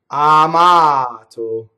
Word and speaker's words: amato: Amato. Notice also that there are all single consonants in this word too, right? So I could double the consonants, amato, and that'd be wrong, right?